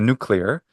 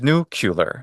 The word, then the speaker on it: nuclear: all this because the there are two pronunciations that are common the nuclear and then there's nucular nucular say if I